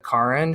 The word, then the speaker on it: Karen: is um Karen Armstrong I think she pronounces it Karin she's a British writer